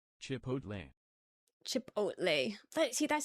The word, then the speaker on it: Chipotle: Getting the L and the T turned around. Switching the L and the T. Never mind, you were saying it right. Do the T, say T at the end.